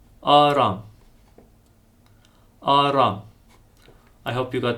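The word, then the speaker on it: Արամ: Now, write the following name from Jesus' lineage in Armenian letters, pronounced Aram. Aram.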